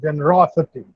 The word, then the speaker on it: generosity: In generosity, the stress is on raw, generosity.